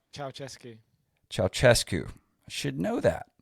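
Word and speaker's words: Ceaușescu: But this guy, Nikolai, how do you pronounce his last name? Ceausescu.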